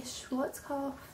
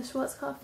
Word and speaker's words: Schwarzkopf: I used the Schwarzkopf, I think that's how you say it, the Schwarzkopf Nordic Blonde Extreme Lightener.